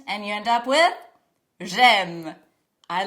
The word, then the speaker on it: j'aime: Make sure not to say j'aimais, but instead say j'aime.